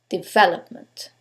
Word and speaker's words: development: with four syllables now let's decide which syllable takes the stress is it the first one development is it the second one development the third one development or the last syllable development in this case is the second second syllable development now you couldn't know